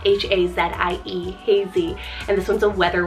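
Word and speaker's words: Hazie: Then I have Hazy, spelled H-A-Z-I-E, Hazy, and this one's a weather word name.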